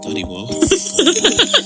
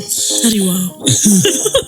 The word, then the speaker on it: Tariao: It's Tariao said, I nearly said Tariwa. I nearly mispronounced their name. Tariao.